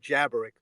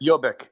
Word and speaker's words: Jobbik: Yeah, I just call it jabberick. What was it? Jobbik, Yabber? Jobbik, Jobbik, Jobbik. Okay, yeah, Jobbik.